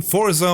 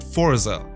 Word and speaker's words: Forza: visually stunning game and sorry that I pronounce it Forza I am German and if I pronounce it Forza like everyone else does it kind of has a nasty sound and reminds me of the German word folson which basically describes the